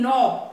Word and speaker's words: knob: So K is silent, but the sound is coming of alphabet N. That is N.